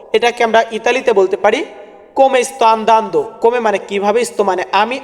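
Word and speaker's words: come sta: এটাকে আমরা ইতালিতে বলবো কমেস্তা কমেস্তা ওই কমেটা কিন্তু এখানে উচ্চারণ হয়েছে কম কমেস্তা কমেস্তায় মানে তুমি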